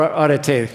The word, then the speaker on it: arete: like the Greek aretas, or arete is how you say it, A-R-E-T-E.